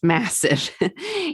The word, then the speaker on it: MASF: Note, it's pronounced massive.